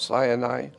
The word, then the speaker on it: Sinai: God met with his people at Mount Sinai. But Mount Sinai is actually Sin Ai.